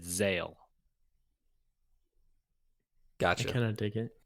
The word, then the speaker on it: Zahel: you just kind of ignored the h in the middle completely and just said zale gotcha kind of dig